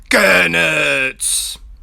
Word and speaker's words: Goenitz: Goenitz is very, Goenitz! Here, I'll say it the way his name's supposed to be pronounced one time.